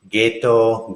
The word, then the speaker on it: ghetto: to learning context so another category ji aged words was a hard G sound these are easy when the Fantasma ghost or a saddle a ghast ghetto ghetto ghetto Afghanistan oh